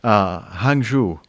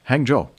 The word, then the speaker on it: Hangzhou: Hangzhou. Okay, so I've been mispronouncing that. That's a big surprise. Hangzhou.